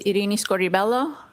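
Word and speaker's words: Irini Scordi-Bello: My name is Iini Scorelloo. That's spelled I R I N I S C O R D I hyphen B E L L O.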